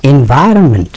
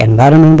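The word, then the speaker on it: environment: এনভায়রনমেন্ট, এর উচ্চারণটা একটু দেখবেন, আমরা অনেকে এনভায়রনমেন্ট বলে, ইটস নট লাইক দ্যাট।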